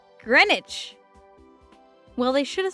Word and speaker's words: Greenwich: Green Witch is pronounced Greenwich.